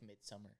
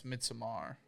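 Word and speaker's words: Midsommar: I almost wonder if it's like midsummer 824. I think that's that that's too late though for that. I don't remember. I think you pronounced that wrong by the way. Mitsamar. Yeah, it's Mitsamar.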